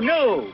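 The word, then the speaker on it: gnu: knew if she and you knew the G is silent there's one thing you've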